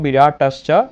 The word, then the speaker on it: বিরাটাশ্চ: বিরাট আচ্ছা শিক্ষার্থীরা আমরা সন্ধির ক্ষেত্রে আমরা ধ্বনির মাধুর্য সম্পাদনের ক্ষেত্রে আমরা সন্ধি ব্যবহার করব, অর্থাৎ আমরা উচ্চারণ করব বিরাটাশ্চ দ্রুপদশ্চ।